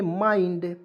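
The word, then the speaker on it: mind: म और आई एन डी तो इसमें पढ़ेंगे माइंड माइंड पढ़ ले जैसे देखिए ए से फ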